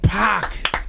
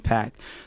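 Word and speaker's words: Paak: That's so But for you, is it Pac? It's P A K. So So it's it's a Korean name.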